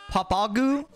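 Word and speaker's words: Pappag: starfish I'm naming him papug oh the way to pronounce his name is pop popagu bro this man hot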